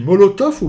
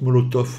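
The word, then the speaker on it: Molotow: ou molot je CIS c'est une marque allemande donc ça doêre molot non tout le monde prononce molotop mais je vois pas de F moi c'est un W c'est Moloto non juste un peu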